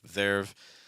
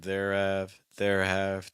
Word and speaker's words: there've: really listen carefully to make sure that you're not adding some extra syllables. Sometimes students think that they're using a contraction. They'll say like there've, but what they're really saying isn't there've. They're saying there have.